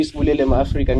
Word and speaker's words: Sibulelo Mafrika: I'm with the lovely Sibulelo Mafrika, yeah? Yes, got it right, pronunciation, everything.